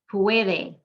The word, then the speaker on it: puede: Puede, the U and the E make one sound, and it's the second to last syllable.